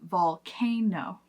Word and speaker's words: volcano: So the emphasis is going to be volcano. Volcano. The stress is on the second syllable, but if we reduce